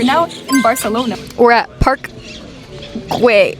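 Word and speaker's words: Park Güell: We're at Park Guay Guay. Park Guay. That's how you pronounce that.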